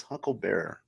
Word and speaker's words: Huckleberry: just fine they don't they don't pronounce Huckleberry yeah it's huckle Bearer it's it's it's basically like I'll be your Paul Bearer that's what they changed